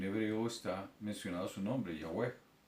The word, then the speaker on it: Yahweh: No es ni aún, como algunos tratan de pervertir el nombre colocándole Jehová o Jehová, porque Jehová es un, una unión de dos palabras, Yahweh, y para no pronunciar su nombre utilizan Adonai, sacan las letras, las vocales del Adonai para entonces comprometer el nombre, pervertirlo y colocar Jehová.